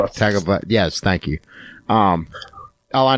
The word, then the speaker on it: Tagovailoa: I never pronounce his last name right. Tagovailoa.